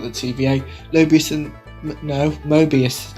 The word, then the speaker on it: Mobius: thought I'm correct myself I then remember that I said it wrong let's try again Mobius and Loki have arrived